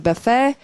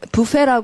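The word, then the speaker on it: buffet: provided a lavish breakfast buffe for the 스트 자 부페라 하지 않고요 자 말하면 페 강세 뒤에 페음 브스가 아주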